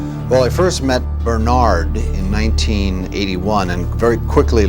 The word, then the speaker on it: Bernard: well I first met Bernard in 1981 and very quickly learned that his name was pronounced Bernard and I've been correcting people's pronunciation of his